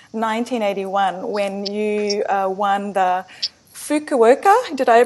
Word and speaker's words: Fukuoka: Hey, you first came to international attention, I believe, in 1981 when you won the Fukuoka. Did I pronounce that right?